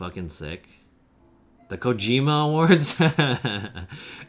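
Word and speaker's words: Kojima: the Cojima Awards. Didn't someone uh say his name wrong? He said like Hideo Kojimo or something.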